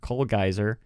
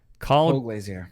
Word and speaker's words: Colglazier: I have no idea how to pronounce this man's name. Colgeiser. Colglazier.